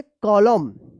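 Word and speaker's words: column: है तो क्या होगा कि यहां पे एन साइलेंट रहेगा तो क्या पढ़ेंगे कॉलम कॉलम पढ़ेंगे कॉलम ठीक है सी ओ एल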